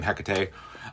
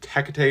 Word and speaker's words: Hecate: you've heard the name Hecate. Um, and a lot of people say like Hecat. Either way, I from what I've gathered, it is Hecate is the proper pronunciation.